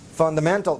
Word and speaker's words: fundamental: In English, how do you say it? Which is the strongest? Man, right here. Fundamental. But there's still one more. Fun. All right? And the rest, they are weak.